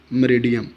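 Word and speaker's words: meridiem: P का मानी post होता है और M का मानी मरीडियम, मैंने फोनेटिक्स में लिखा हुआ है, इसकी प्रोनाउंसिएशन मरीडियम, पोस्ट मरीडियम, यानी 12 बजे के बाद जो वक़्त होता है वो PM होता है, दोपहर 12 बजे के बाद।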